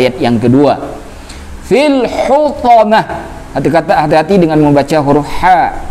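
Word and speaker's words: حطمة: Hutamah, bukan hutomah atau hutamah, bukan.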